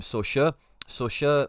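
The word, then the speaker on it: Sochaux: Now Skelly broke onto the scene from Soha or depends how you want to say it but that's how I believe how you say it in France. SO C h aux yellow and blue that team.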